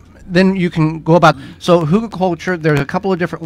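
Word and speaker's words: Hügelkultur: of the term came from, but it's called Hugelkultur. Yes, and it's called Hugelkultur.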